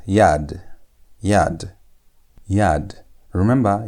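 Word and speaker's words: יד: This one is going to be pronounced as yad.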